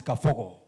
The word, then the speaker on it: Kabogo: I don't know whether you know how we pronounce it in my village. It's Kafogo.